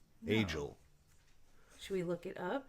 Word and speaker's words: Agiel: I'm not saying Agle. No. Agel.